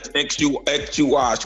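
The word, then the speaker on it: Ek Chuah: So how's that pronounced? Ekchuash? Yes, Ekchuash, which is this is the same meaning going back to the original Ekuahu.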